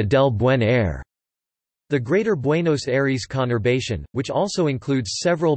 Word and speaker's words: Buenos Aires: Buenos Aires, or, Spanish pronunciation, Buenos Aires, is the capital and largest city of Argentina.